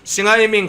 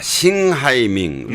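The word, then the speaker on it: 邢海明: 자, 싱하이밍 뭐 한국 발음으로는 형해명신데.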